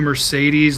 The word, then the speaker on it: Mercedes: I feel like it is Mercedes.